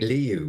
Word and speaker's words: Lihou: I think Liu, which is spelled Lihou, for those who are wondering, Liu means a little hill.